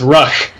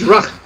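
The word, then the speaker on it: Ruhk: Ruck is spelled R-U-H-K, by the way. Oh, so it's Ruck. It's Ruck.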